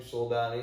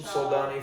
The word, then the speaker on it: Soldani: It's got 3 syllables. It sounds like my last name, Soldani.